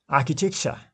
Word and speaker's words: architecture: Here you can say succession, excavation, inscription, concentration, excel, architecture. First syllable is stressed. Architecture, culture. First syllable is stressed.